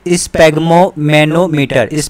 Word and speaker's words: sphygmomanometer: तो इसको यहाँ से क्या है स्पैग्मोमैनोमीटर दो तीन बार आप बोलो तो आपको याद हो जाएगा, स्पैग्मोमैनोमीटर, ठीक है। यहाँ पे क्या है PHY जो है ये साइलेंट है, स्पैग्मोमैनोमीटर इसका है, ठीक है।